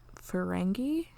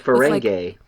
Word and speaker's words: Ferengi: mean we sort of had that with the ferengi did i pronounce that one right you did pronounce it correctly yeah episode with picard yes making progress instead of ferengay yeah yeah um with like picard that vengeance